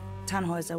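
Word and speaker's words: Tannhäuser: why what's your name tanhauser we'd pronounce it tanhoyza with an umlaut german roots yes my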